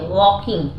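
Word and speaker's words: walking: scene दिख रही है वॉकिंग मतलब चल रही है वॉक में आई एनजी जुड़ा हुआ वकिंग आप ये देख सकते हैं एल इस में भी साइलेंट इन वो तो ग्रिल्ड हरिडली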